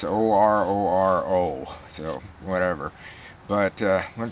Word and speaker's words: Ororo: This is, I call it Oreo, but that's not it. It's Ororo, so whatever.